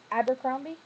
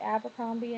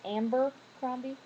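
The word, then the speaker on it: Abercrombie: hate that store but people call it Amber cromie I think that's funny cuz they claim love the store so much they can't even pronounce it right um people who say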